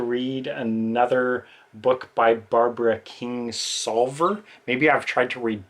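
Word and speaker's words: Kingsolver: previous video or two I pronounced her name as Barbara King's lover which apparently that's not it it's Barbara King solver um so anyway I've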